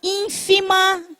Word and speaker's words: ínfima: tornar menor, para tornar ínfima. Ínfima é pequena. Tem o acento no im, acento agudo.